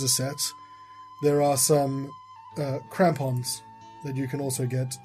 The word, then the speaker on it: crampons: the Crampians might be useful. I think they all Did might be I useful. pronounce it correctly? It says crampons.